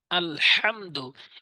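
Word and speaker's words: الحمد: আলহামদু, এখানে চাপ দিয়ে উচ্চারণ করতে হবে, ভর দিয়ে। হামদু, হামদু। এখানে অনেক সাধারণ লোক আছে যারা বলে আলহামদু, আলহামদু, এভাবে সহজ করে বলে দেয়। এর দ্বারা কিন্তু নামাজ ভঙ্গ হয়ে যাবে। যেমন চাপ দিয়ে ভর দিয়ে উচ্চারণ করতে হবে, সহি ভাবে উচ্চারণ করতে হবে।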